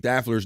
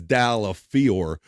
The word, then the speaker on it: Daffler: boy Bob Levy, because if you really look at it phonetically, it's Dallafiore, but he's Dave Daffler. So I've had many people say, Bob, they'll be like, why do you say Daffler when it's not spelled like that? But because when Bob Levy gives you a name, that's what it is. He's Daffler.